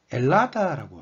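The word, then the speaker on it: Ελλάδα: 그리스어로는 엘리니키 디모크라티아라고 읽는데요. 이건 이제 우리나라 말의 대한민국처럼 아주 공식적인 이름이고요. 자기들끼리는 엘라다라고 합니다.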